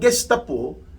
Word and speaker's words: Gestapo: It is spelled Golf or G-E-S-T-A-P-O. Gestapo po ang pag-pronounce niyan. Ang iba binabasa nilang Gestapo, pero it is pronounced Gestapo.